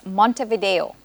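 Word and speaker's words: Montevideo: Mont Vio judges it is correct the correct pronunciation is Mont Vio social studies this is for Angels name three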